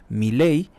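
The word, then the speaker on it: Milei: de Argentina Javier Miley Miley es como si llevara acento en la e Miley aseguró que es problema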